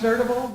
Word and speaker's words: N3rdabl3: It's pronounced Nerdable, but Yes.